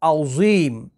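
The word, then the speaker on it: عظیم: दफ़ा आप पढ़कर देखिए, अज़ीम पढ़ते हैं अक्सर लोग, सुब्हाना रब्बी यल अज़ीम, ज़ा के साथ।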